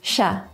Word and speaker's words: siya: Only in rare cases there are some unexpected pronunciations, like this word, which is pronounced sha.